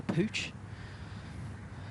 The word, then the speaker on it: Puig: David Poo or Pooch as Alistister Scott said. It's how they say it in Spain.